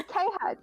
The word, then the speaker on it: KHuck: just say KHuck. You don't need to say cuck.